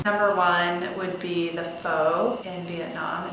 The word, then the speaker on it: pho: You pronounce it pho.